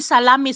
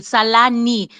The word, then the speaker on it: Salani: it's the proper way they call me salami salami I told one person I'm not a Russian sausage okay so please pronounce my name properly salani not salami and yeah they seem